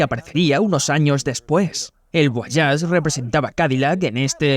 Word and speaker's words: Voyage: Empecemos por el exterior del Guayas. Y por cierto, sí se pronuncia y no voyage, quería darle un toque francés y eso también fue